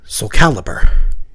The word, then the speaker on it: Soulcalibur: game Soul Cal caliber intending it to be a portmanto of soul and xcaliber so I guess if you're pronouncing it correctly it's like Soulcalibur but that's dumb I'm